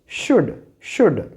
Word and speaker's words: should: This one इज कुड and here it इज शुड। Now next, since L is silent, so its pronunciation will be calf.